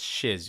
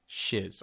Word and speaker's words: Shiz: life at shiz University yes it's shiz you guys shiz okay I did not mispronounce that okay and the choices that